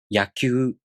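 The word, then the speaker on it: やきゅう: Let's practice pronouncing Kyu, Kyo using some real words. Repeat with me. Kyaku, Kyaku. Yakyu, Yakyu. Kyo, Kyo.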